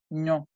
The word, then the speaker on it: non: La segunda N no se pronuncia, es ño. Nasal. N-O. Ño.